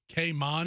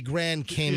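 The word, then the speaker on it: Grand Cayman: even the Cayman Islands you mean the kayman well it' be grand kman okay make sure I want to pronounce Grand kman uh where's Jared it's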